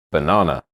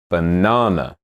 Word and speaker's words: banana: Banana. Do you remember where the stress is? It's on the second syllable. Banana.